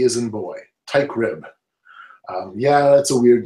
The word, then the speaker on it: Teichrib: I CH RI B B as in boy ty crib yeah that's a weird name I know that's really truly easy to pronounce very easy to spell but that's not